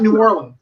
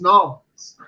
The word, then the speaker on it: New Orleans: And I was like, it's not New Orleans. It's Nolans.